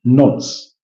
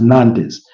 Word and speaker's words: Nantes: In the French League One, Paris Saint-Germain are going to be up against Nantes. I know most Africans, or even Ugandans to be more specifically, they pronounce this as Nantes, but it's Nantes.